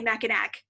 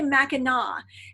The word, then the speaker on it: Mackinac Island: learned of it I can't I would say Mac attack cuz I'm like that's what it looks like it looks like Mackinac Island but it's actually Mackinac and there's a little town right across the